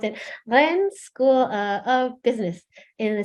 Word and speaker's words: Rennes: I just learned how to pronounce it. Rennes School of Business in the city of Rennes, Paris, and also a private universities.